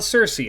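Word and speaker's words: Circe: Next up, let's talk about Cersei. I know her name's pronounced Kuruk. I'm never going to call her that.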